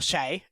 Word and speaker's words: Shai: understand Shai as or Shay as it actually should be pronounced as per Ry sh Bol okay um not shy because apparently he's not